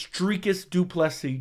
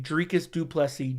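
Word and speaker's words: Dricus du Plessis: telling you right now I'm the only person that pronounces drias duples right because someone sent me an Instagram voice message from South Africa and told me how to pronounce it it's drus dupi drus dupi drus dupi that's is how that is how you pronounce it Ben St Dem menis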